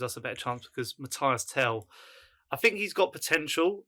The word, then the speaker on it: Mathys: How do you say Matthias? Mathys, right? Mathys. But yeah, Solanke, for me, I rate him.